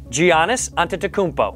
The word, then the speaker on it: Giannis Antetokounmpo: Giannis Antetokounmpo.